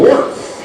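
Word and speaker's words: Wirth: Although the word that they are singing about is spelled differently than his last name. Baby, I'm Worth It. As Kevin Worth, W-I-R-T-H, steps in.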